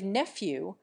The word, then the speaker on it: nephew: preserve the final G we give nephew a clear F sound instead of the clouded English V sound and we boldly nationalize